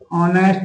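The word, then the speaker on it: honest: जैसे जैसे ही इज खाली ही इज़ खाली ऑनेस्ट मैन।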